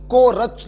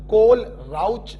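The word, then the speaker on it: Kohlrausch: है सुनो बच्चों, देखिए अगर H और L साइलेंट कर दिया तो कोरच लॉ, और अगर सिर्फ H को साइलेंट किया तो कोल राउच लॉ।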